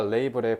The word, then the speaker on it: label: 어, 그거 라벨즈가 레이블의 콩글리시 발음이에요.